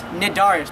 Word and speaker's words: Cnidaria: It's Cnidaria, but spelled with a C.